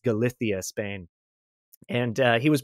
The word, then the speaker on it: Galicia: the United States uh the pronunciation would be more like Galicia or Galicia but in Spain they have that bit of that like that lispy kind of thing so it's galithia Spain and uh he